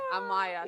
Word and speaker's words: Amaya: Amaya. So that's Yeah. actually the correct pronunciation. Ah, Maya.